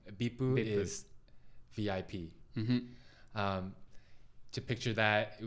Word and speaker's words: VIP: acronyms in japanese um they don't pronounce each letter no they try to pronounce the word so bipur um to picture that